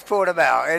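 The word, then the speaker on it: Portimão: We're at, I'm not sure how to pronounce it. I'm going to call... Algarve or Portimao. It is Portimao.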